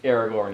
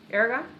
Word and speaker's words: Aragorn: could admit that uh Aragorn is cute you don't have to uh Aragon yeah he said his name wrong yeah you don't like